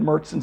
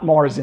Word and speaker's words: Märzen: Again, remember, as I said earlier in the video, that's the Märzen style. Again, not Marzen, it's not pronounced Marzen, all right?